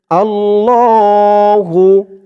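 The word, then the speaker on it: اللّٰهُ: এক আলিফ টান আল্লাহু আল্লাহু অনেকে বলে আল্লাহু আল্লাহ বললে আল্লাহ শব্দের উচ্চারণটা শুদ্ধ হয় না বলতে হবে আল্লাহু লা তিন আলিফ টান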